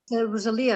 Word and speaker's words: Rosalia: Rosalia, actually. It's it's Italian origin.